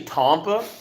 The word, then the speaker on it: Tampa: do you pronounce tampa i've heard people say with a very southern accent it's actually tompa well technically technically i